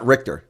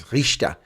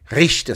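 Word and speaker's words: Richter: So that's impro pronounced incorrectly too by the way folks. So it's not RTOR.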